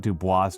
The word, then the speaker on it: Du Bois: You pronounce the S. It's not Dubois, Du Bois.